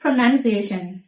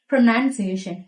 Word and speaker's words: pronunciation: Resume, A good resume is essential in getting a job civ ကောင်းတစ်ခုကလုပ်ရဖို့အတွက်အရေးကြီးတယ်။နောက်ထပ်တစ်ခုကတော့ prunေးation မှာသူ့ကို pronounce ကနေလာတဲ့စကားလုံးဖြစ်ပါတယ်။ pronounce သည် verb ဖြစ်ပေမယ့်သူ့ရဲ့နောင်းသည် pronouncation မဟုတ်ပါဘူး။ Pronunciation Prunciation Pronounciation အသံထွက်လို့အဓိပ္ပါယ်ရပါတယ်။နောက်ထပ်တစ်ခုကတော့သူ့ကို နောက်ထပ်တစ်ခုကတော့သူ့ကို gင်နဲ့ဆုံးတယ်ဆိုပြီးတော့ဂျစ်ဒီလိုမျိုးအသံမှားထွက်နေကြတာတွေ့ရပါတယ်သူ့ရဲ့အသံထွက်အမှန်ကတော့ rough roughသံနဲ့ဆုံးမမှာဖြစ်ပါတယ် rough ကြမ်းတမ်းသောဆိုတဲ့အဓိပ္ပာယ်ပါ very